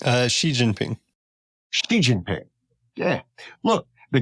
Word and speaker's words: Xi Jinping: know and and you're the quote about uh Xing that's what you say it right uh Xi Jinping Xi Jinping yeah look the guy from South